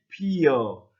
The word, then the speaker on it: 피어: 피 더하기 피어라고 발음하는 사람들도 많이 있습니다. 그렇지만 피여 이렇게 이를 덧붙여서 여로 발음하는 사람도 많이 있습니다.